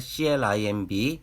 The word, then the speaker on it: climb: 그리고 발음과 관련해선 알파벳 M 뒤에 알파벳 B는 묵음이다. 알파벳 CLIMB, climb, 알파벳 THUMB, some